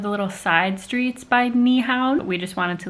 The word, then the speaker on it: Nyhavn: I think it's pronounced Nyhavn.